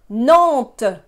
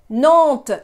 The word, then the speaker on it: Nantes: Nantes. Nantes. Again, the S is not pronounced. It's not there. Pretend it's not there.